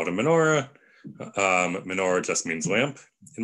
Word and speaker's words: menorah: However, menorah is much easier to say than Chanukiah. So, and it rhymes with more things like Torah and Hora.